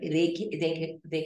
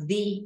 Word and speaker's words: the: Nós temos que falar the e não the. É the highest. Quando o artigo the, o artigo definido the, está antes de uma palavra que começa com vogal, aqui, ó, aqui é o caso.